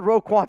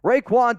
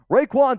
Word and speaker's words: Raekwon: was going to say you said Roe quad Smith earlier to me and I was like that's not how you say it Raekwon Davis Raekwon Davis back in 2020